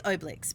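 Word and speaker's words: Obelix: and Oakley with them it's not how you pronounce his name it's technically it's oblix but no that's how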